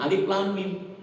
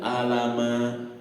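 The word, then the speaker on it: الم: dari guru kita itu tulisannya Alama alif lam mim Tapi dibacanya Alif Lam Mim enggak ada orang yang bica Alama ya enggak ada orang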